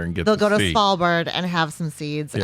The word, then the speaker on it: Svalbard: Svalbard. It's with like SV. SV. We our Scandinavian people like to use that combination.